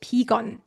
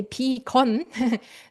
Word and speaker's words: 비건: And just so you know, guys, vegan is just 비건. We say 비건, the Korean pronunciation of vegan.